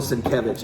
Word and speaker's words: Sienkiewicz: Bill Sienkiewicz.